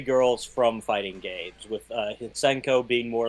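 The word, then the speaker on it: Hsien-Ko: Shenkara Heisenko? Or how do you say it? It's Hisenko versus Squiggly.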